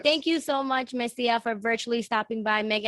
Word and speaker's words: Messiah: My Instagram is Messiah. Messiah and like Instagram. Se pronuncia Messia, pero se escribe Messiah.